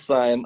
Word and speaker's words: sine: sine whatever yeah sine it's sine okay i know but it's spelled like sin i know i know